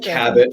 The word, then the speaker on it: Cabot: when i'm feeling sophisticated i go with the silent t and just cabo we'll stick with cabot for now but i'm a managing